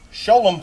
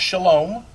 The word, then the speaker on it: Sholom: have been taught today show them Park not Shalom although you can pronounce it either way I learned that